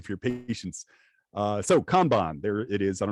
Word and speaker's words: kanban: your patience uh so kanban there it is i don't know if there's any chinese speakers out there but the the words are literally khan and bon it's pronounced the same way when you take those